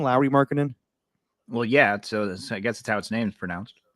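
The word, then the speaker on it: Lauri Markkanen: Lowry Markkinen? Well, yeah. So I guess that's how its name's pronounced.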